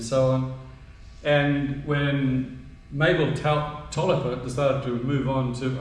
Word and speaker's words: Taliaferro: It looks as though it's spelled Taliaferro, but my understanding it's pronounced Tolliver.